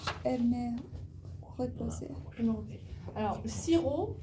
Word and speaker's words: sirop: Alors, le sirop, on prononce pas le P.